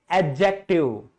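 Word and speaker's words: adjective: लेकिन आज आपको पता चल गया कि यहां पे डी साइलेंट होता है और आप इसको क्या कहेंगे? एडजेक्टिव।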